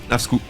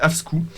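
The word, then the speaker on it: Afsky: s'écrit avec un Y, mais le Y, comme tout le monde le sait, finalement, se dit en danois ou, évidemment, qui est insupportable personne. Ouais. C'est Afski, donc Afsku, et c'est.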